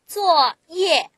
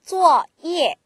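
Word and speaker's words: 作业: 해서 회의하다 뜻입니다 어 쪼 이에 쪼 쪼 이에 예 제 4성으로 다 발음하죠 주어 하다 주어 이에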